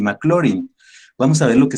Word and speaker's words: Maclaurin: de taylor y maclaurin maclaurin se escribe y se lee mclaren en las clases anteriores